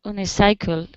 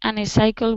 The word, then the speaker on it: unicycle: I want an unicycle. Any unicycle will do. Close. We pronounce unicycle. Unicycle. Can you repeat unicycle?